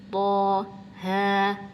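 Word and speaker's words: طه: Nah, ini suka keseliru ya, karena kita seringnya baca huruf-huruf yang lain itu panjang. Jadi kita di sini bacanya panjang juga 6 harokat. Padahal enggak, di sini bacanya cuma 2 harokat aja. Toha gitu.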